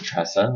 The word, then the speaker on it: TRESA: Tesa we call it we call it tresa yes it is tresa we like to uh